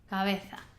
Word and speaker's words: cabeza: understand correctly, is that the letter, the same letter, the B, is actually, we're pronouncing it differently because it's coming in a different part of the word.